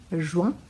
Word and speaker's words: juin: som de E, mai, juin, IN com som de an, juin, juillet, I prolongado e o T que virou uma espécie de acento agudo, acento circunflexo, juillet, août, estranho, né?